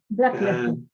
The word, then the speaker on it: Blackledge: Se pronuncia su apellido, Javier. Blackledge.